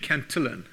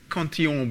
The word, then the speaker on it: Cantillon: Locke had said this years before, and Richard Cantillon, who people often pronounce Cantillon because he was working in France, he was actually Irish, had all come up with this idea beforehand.